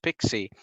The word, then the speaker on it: PKCE: but pixi stands for proof key for code exchange or pkce it's pronounced pixi and there is a